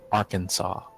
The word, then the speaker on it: Arkansas: Since the S at the end of French is usually silent, we pronounce the state Arkansas.